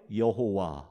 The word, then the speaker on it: 여호와: 예 아도나이 에 모음 을 붙여서 이것을 야외에 여호와 라고 우리는 발음을 하는 거예요 자 그런데 우리가 전에 살펴본